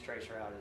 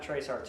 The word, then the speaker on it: traceroute: but the newer Linux traceroute is really good. So we're going to work from it today. It's not traceRT, it's spelled all the way out, traceroute.